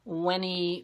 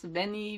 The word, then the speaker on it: veni: And she tells me this is actually pronounced Weni, Weedy, Weegee. It sounds wimpy like that, doesn't it? I think I'm just going to mispronounce it like everybody else. Veni, Weedy, Weegee.